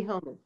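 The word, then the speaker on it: Homi: Yeah, Julie Homey.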